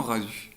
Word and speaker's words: Radu: non, étymologiquement parlant, je pense que ça se dit Radou, mais moi j'aime autant Radu.